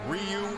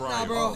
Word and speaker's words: Ryu: good fighter too now is it supposed to be Ryu or rayu oh no no no no don't call him rayu Ru was D pronounced Ryu but that's as close as I'm getting well that's good to